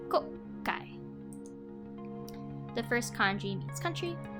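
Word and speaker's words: 国会: The double K indicates there is a pause between the first and second syllables, so instead of kokai, it's kokai.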